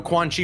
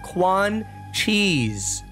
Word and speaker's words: Quan Chi: No, you said his name wrong. It's Quan Cheese. Quan Cheese. Quan Cheese. You gotta make sure you say it right.